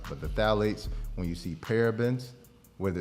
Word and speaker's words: phthalates: So when you turn it on the label and you see phthalates, it starts with a P. The P is silent. But the phthalates, when you see parabens,